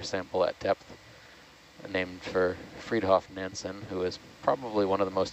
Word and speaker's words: Fridtjof: How do you pronounce that first name? Fridtjof.